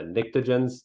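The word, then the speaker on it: pnictogens: here these are the nictogens so the p is silent so um you know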